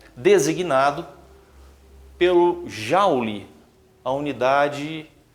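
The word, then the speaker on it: joule: inglês James prescott Jaul existe também a pronúncia Juli né mas no Brasil em geral a gente ouve mais a pronúncia Jau outra grandeza a diferença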